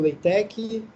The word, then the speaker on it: LaTeX: cara aqui desenvolveu, que a pronúncia é LaTeX ou LaTeX.